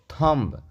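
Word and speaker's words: thumb: इसको लिखेंगे I clear थम टी एच यू एम बी इसको पढ़ेंगे थम य देखि लिप एल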